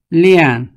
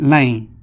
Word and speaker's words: Lian: Lian in Hmong is known as Lang. Lian is a Mandarin pronunciation, but Hmong call it Lang.